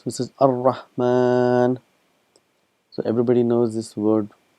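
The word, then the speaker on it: الرحمن: It's written as Ar-Rahmanu, but we pronounce it as Ar-Rahman.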